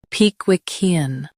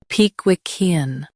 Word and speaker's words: Pickwickian: pe qui quin Both US and UK have the same pronunciation of this word. pe qui quin Now read the syllables shown on the screen naturally. pe qui e an pe qui quin Stress qui and keep ean soft.